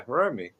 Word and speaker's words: Hiromi: Oh, you're the first person on here to pronounce her name properly. Yeah, Hiromi.